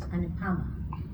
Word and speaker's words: Anupama: decided to gently say actually it's pronounced anama not defensively, not aggressively, but with confidence.